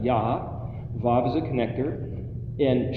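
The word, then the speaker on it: יה: Yod He is a short form of Yahweh. It's pronounced Yah.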